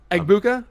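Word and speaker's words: Egbuka: Eggbuka.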